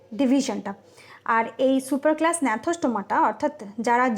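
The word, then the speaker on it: Gnathostomata: এটার উচ্চারণ হবে ন্যাথোস্টোমাটা, যেটা এখানে উজ্জ্ব থাকছে এটা হচ্ছে ন্যাথোস্টোমাটা, এর উচ্চারণটা ন্যাথোস্টোমাটা।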